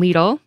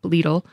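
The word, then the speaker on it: Lidl: grocery giants like Aldi and its German cousin leele and I that is how you pronounce it I did look it up leele Kroger Walmart and Sprouts Farmers Market are expanding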